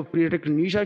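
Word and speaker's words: Friedrich Nietzsche: से इसको प्रोनाउंस किया जाता है मैं इसको फ्रेडरिक नीशा की तौर पर प्रोनाउंस कर रहा हूं यहां पर एक्सप्लेनेशन में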